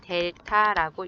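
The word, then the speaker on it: Δ: x 델타y라고 표현을 하는데요 읽을 때는 델타라고 읽습니다 이 증분은 지금 오른쪽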